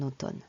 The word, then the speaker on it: automne: je préfère partir en automne attention à la prononciation de automne au town automne il y a deux eaux les eaux sont différents le premier os os le deuxième mot or automne l'automne j'aime beaucoup l'automne